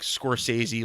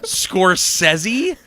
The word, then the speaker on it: Scorsese: That's really how you say his name, is Scorsese, Yes, sir. not Scorsese.